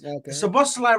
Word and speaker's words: Szoboszlai: The way you have to say that is Szoboszlai right now is the